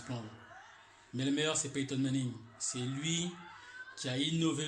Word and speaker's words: Peyton Manning: Et là, on le prononce à l'américaine. Peyton Manning, you know.